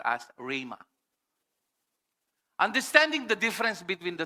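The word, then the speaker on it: ῥῆμα: It should be pronounced as RA. Pwedeng Rema yung iba sa but it should be pronounced as RA.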